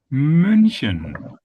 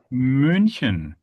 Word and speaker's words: München: Okay, so how do I get there? I say E. E. Yeah. E. And then again, I relax my lips from that Yeah, let's do this together.